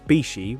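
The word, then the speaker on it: 菱: Mitsu means 3, and Hishi, often pronounced Bishi when combined, means water chestnut, a term often used in Japan to describe a diamond shape in WRC.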